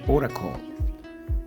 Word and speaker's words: Oracle: Definición de Oracle, así se escribe, se pronuncia Oracle y quiere decir oráculo.